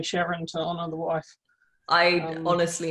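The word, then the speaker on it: Charon: pluto's largest moon um i always thought we were supposed to say it sharon to honor the the discoverer's wife i i know i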